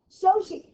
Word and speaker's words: Xochi: No, do you know how you pronounce that? Sochi. It's a famous park in Mexico.